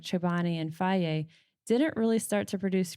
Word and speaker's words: Fage: Um Fage being the brand it looks like FAGE, f a g e, but it's pronounced Fage.